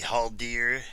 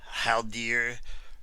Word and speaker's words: Haldir: and showing of the haul dear how dear or halter depending on you want pronounce I I say how dear figure toy biz figure